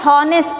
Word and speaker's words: honest: You know, here HONEST is there. But how it pronounce? Not honest, it is honest.